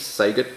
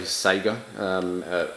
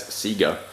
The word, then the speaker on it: Sega: really hard to say Sega I'm sure you've heard father Australian reviewers that the adverts for Sega products in Australia when we were growing up they always pronounced it as Seger so I constantly have